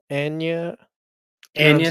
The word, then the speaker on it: Agnes: what I still So in the movie, her name's Agni, but pronounced Anya.